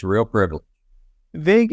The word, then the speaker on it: Vague: Vague is spelled V-A-G-U-E, just like it sounds if you're listening in the audio only.